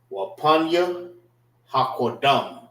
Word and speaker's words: Wapanya Hakodam: So this is Wapanya Hakodam. All right, which means face the east. Wapan, which is pronounced together. Let me write it like this. Wapanya Hakodam is spelled W Wapan PAN Ya HA Ha Qua QADAM.